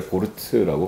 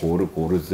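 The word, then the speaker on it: Gorz: 그래서 이제 독일식으로 발음하면 앙드레 고르트라고 발음하고 뭐 고르즈 뭐 사람마다 어쨌든 조금씩 발음이 다른데, 왜냐면 이제 프랑스에서 살았기 때문에, 그러니까 그 오스트리아에서 어쨌든 도망쳐 나와가지고 그 23년생이니까 아시겠죠.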